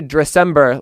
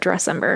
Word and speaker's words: Dressember: I like to say Dressember, like December, or should I be putting a little bit more emphasis on the dress, like Dressember? I don't know. What do I do? I've never been asked that actually, but I don't hate the Dressember. But I just say it like December, but Dressember.